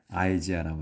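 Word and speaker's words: Isaiah: 이사야 이제 우리는 이사야라고 하는데 영어로 이제 할 때는 아이지아라고 합니다. 아이죠.요 아이.요이 아이를이 영화의 생명 아이로 바라 그래요. 우리 한국에서는이라고 하는데 발음에서는 영어에서는 아이 i 아이라고 말합니다.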